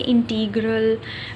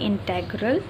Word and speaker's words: integral: Some people say integral, which is not the right pronunciation to this word. It is actually integral.